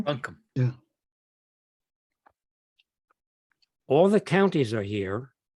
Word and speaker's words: Buncombe: I know I'm pronouncing it right. Buncombe. Buncombe.